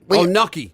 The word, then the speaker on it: gnocchi: Gnocchi. Apparently you're supposed to put a Y in it. So apparently it's like gnocchi. Gnocchi. Gnocchi is supposed to be how you pronounce that.